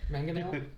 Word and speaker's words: Mangonel: This one, the Mongrel, though, yes.